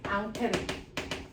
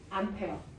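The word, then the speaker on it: Ampère: 그 과학자의 이름이 바로 앙페르. 그래서 앙페르 법칙이고요. 여러분들은 앙페르는 이미 중학교 2학년 때 배웠던 이름이죠. 이거 뭐라고 배웠어요? 암페어. 그래서 암페르가 원래 프랑스 사람이라서 자기 원래 이름이 암페르고요. 이걸 미국식으로 발음하면 암페어예요.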